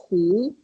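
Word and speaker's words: 湖: this cruel exactly and lake is how to pronounce this who exactly so lake is who river is who she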